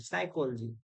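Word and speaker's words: psychology: साइकोलॉजी में क्या हो रहा है कि पी इज साइलेंट, साइकोलॉजी.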